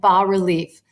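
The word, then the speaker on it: bas-relief: is completely covered in B relief B relief is spelled Bas relief and that means low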